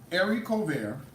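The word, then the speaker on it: haricot vert: french green beans called every cold bear okay it don't sound like the way it's spelled okay it's pronounced arie cover but it's spelled heracot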